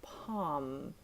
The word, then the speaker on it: palm: have cemetery again mmm calm and palm so the L is silent I am calm I